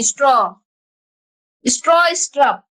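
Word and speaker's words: Stroustrup: बीजार्न स्ट्रॉ, पहले स्ट्रॉ बोलेंगे फिर स्ट्रप बोलेंगे। स्ट्रप का स्पेलिंग STRUP, स्ट्रप, यू है यू, और इधर क्या लिखे हैं? स्ट्रॉ, स्ट्रप। बोलने में दिक्कत हो रहा है, पहले स्ट्रॉ बोलो, उसके बाद स्ट्रप बोलना।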